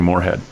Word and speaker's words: Morehead: Sometimes I'll say Morehead, but it's actually Morehead.